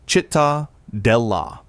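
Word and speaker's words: Cittadella: Number six, Citadela, Malta, pronounced Chitta Dela.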